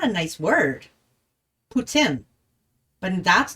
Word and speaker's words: Putin: Putin. Like poo, tin. Like a tin roof. Putin.